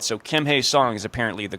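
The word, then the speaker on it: Kim Hye-seong: So Kim Hi Song is apparently the correct way to say it.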